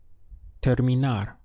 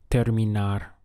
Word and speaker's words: terminar: si puede ayudar me the verb to finish is terminar looks like the word terminate in English terminar the syllables would be there me now how would you